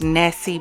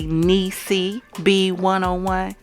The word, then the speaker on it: Niecy: But she did let me know that I pronounced her name wrong. So I do want to do a correction in this video, as I told her that I would. So Miss Nessie B 101, which is actually Niecy B 101, please forgive me for